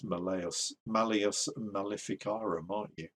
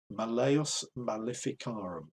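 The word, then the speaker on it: Malleus Maleficarum: i say malius malifikaram you're going to want to know how to pronounce malayas malificara i think it's malayas malayas malificarum the hammer of witches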